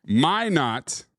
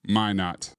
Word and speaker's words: Minot: Minot, not Minot.